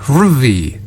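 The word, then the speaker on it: HRVY: hervy H RV Y ruvy huvy what does ruvy do I think he's pronounced Harvey no it's h r v y ruy I don't know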